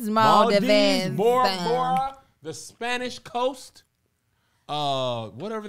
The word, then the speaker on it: Maldives: thought it would be i would have been like maul dives that's what i was it's maldives the spanish coast uh